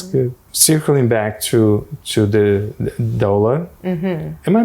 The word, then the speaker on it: doula: Circling back to the doula. Am I pronouncing correctly? Doula.